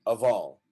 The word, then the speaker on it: of: Let's remember that the F is not pronounced as an F, it's pronounced as a V. So you say of all.